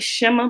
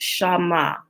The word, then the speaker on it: Shema: And we call it Shema, but it's actually pronounced Shama, right? Shama, So I guess it'd be kind of hard to say Shema, right? I guess not Shema, right? But it's the proper, as they put the pronunciation in there, is SHAW-MAH. That's how you pronounce it.